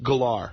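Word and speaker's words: Gellar: But you But it is It is pronounced Galar.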